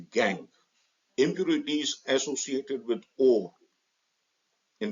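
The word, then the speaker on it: gangue: OES gang spelling G and G E but pronounced gang impurities associated with or in the form of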